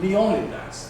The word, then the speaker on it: Leonidas: in the film well I said there are three possibilities suppose ing you were to take the English the British line. Well, we call him Leonidas. The accent is pro peroxid as well. Leonidas suppose on the other